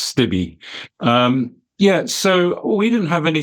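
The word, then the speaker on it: Stibbe: It's pronounced Stibby.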